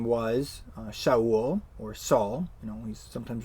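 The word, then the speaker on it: שָׁאוּל: the name is actually written in Hebrew and pronounced Showell this is the name of the first king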